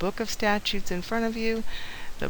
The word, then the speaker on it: statute: and by the way, statute is not statue, it's statute, and do everything you can to make yourself say it and spell it correctly.